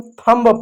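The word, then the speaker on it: thumb: इसको हम थंब पढ़ेंगे।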